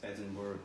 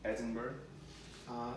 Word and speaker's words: Edinburgh: subscribe porcelain in January temperature in London and Edinburgh was was just above five degrees five degrees